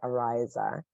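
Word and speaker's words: Araisa: east coast thank you a-r-a-i-s-a but they pronounce it Ariza and they did the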